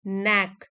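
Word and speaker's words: knack: गए ही relies his नेक के silent है इसमें ही रिलाइज हिज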